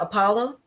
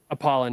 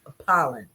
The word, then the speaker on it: Apollon: So what pre is it your pre-workout Apollo? Apollon, yes. Oh, Apollon. I'm sorry, forgive That's me. okay. I butchered up a possible opportunity here by getting the name wrong. Apollon.